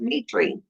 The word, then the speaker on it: Mitri: thought she told me it was Mitri, pronounced Mitri. Mitri, what didn't you tell me it was pronounced Mitri?